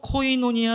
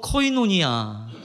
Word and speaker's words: 코이노니아: 사귐이 라고 하는 단어는 헬라어로 코이노니아 를 씁니다 한번 저를 따라서 발음 해보고 있습니다 허 인 온 이야 한번 더 커 이 노 니 야 자 교회에서 가장 많이